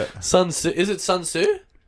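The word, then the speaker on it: Sun Tzu: Sunsu. Is it Sunsu? Sunsu.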